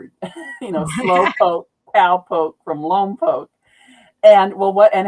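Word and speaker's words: Lompoc: They shoot the missiles off and uh the town in there is Lom Poke, but people always pronounce it wrong because it looks like Lom Pac and I'll hear it in movies and I'll hear it on the news or something.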